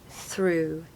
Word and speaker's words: through: advice is to just ignore all of the letters and just simply say through through it's like a double o sound okay it's basically there's